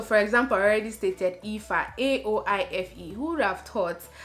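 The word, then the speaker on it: Aoife: A-O-I-F-E is pronounced Ifa. Would you have thought that that would have been the pronunciation, Ifa?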